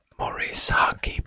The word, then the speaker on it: Morisaki: Oh wait, I've been pronouncing it wrong. Morisaki Bookshop. That's right.